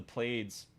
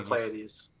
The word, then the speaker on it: Pleiades: the section of the Pleiades. I don't know if I'm pronouncing that right. I think it's the Pleiades. Pleiades. Pleiades, Yeah. yeah.